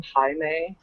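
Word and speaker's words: Jaime: it yeah Diego's brother you pronounced his name Hae I learned that uh well I don't even remember his name it's j a i m e j a i I call him Jamie yeah it's Hae I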